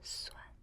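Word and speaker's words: 酸: And this one called suan.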